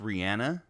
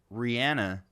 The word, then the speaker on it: Rihanna: She says it's pronounced Rihanna. Like, right. On an episode of Ellen, I remember she said, Ellen was like, there's a debate of is it Rihanna or Rihanna? And she said it's Rihanna.